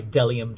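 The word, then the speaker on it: Bdellium: blender this is by dellium tools the bee is silent and this is from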